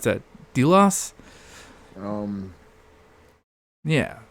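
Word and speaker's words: Djilas: do you pronounce that delos um yeah I think it's like the J is silent right yeah like a j I think g-loss concise history of the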